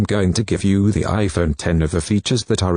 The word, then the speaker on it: iPhone X: It's not pronounced iPhone X, it's the iPhone 10, and the screen takes up the whole of the phone's front panel.